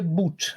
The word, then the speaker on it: Bout: Do Victor Bout. Qual é a pronúncia correta do nome dele? Então, no documentário é Bout. No documentário fala Bout.